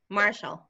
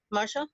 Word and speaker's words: Martial: ¿cómo se pronuncia? Marshall. Marshall, oh yeah, Marshall.